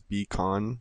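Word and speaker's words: Bekon: I don't really know how to pronounce it, but I'm pretty sure it's becon, like beacon.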